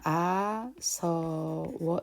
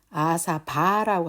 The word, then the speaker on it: āsava: 그래서 아사바라고 하지 않고 아서워 이렇게 발음을 해야 원칙적으로 맞는데, 네, 이거를 이제 처음 하시는